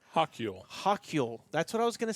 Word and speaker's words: Hochul: So the governor, now I do not know how to pronounce her name, and I do apologize. It's like Hochul. Hochul.